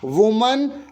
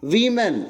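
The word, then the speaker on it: women: वुमन वीमेन, इसका उच्चारण भी ध्यान से सुन लो, वुमन वीमेन।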